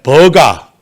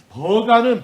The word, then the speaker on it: 버가: 이 안탈리아 옆에 버가, 한글 발음이에요. 헬라어 발음으로는 페르게라는 또 도시가 있습니다. 버가, 전혀 상관이 없이 들리잖아요.